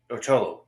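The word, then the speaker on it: Xolo: And also Cholo, that's how you say his name, is so amazing on Cobra Kai.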